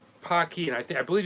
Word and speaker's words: Paqui: seen the pocky challenge it's pronounced p-a-c-q-u-i pocky and i think i